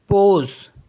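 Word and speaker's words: pause: next word है पी ए यू एस ई पोज पोज means पॉज एंड एस ए यू सी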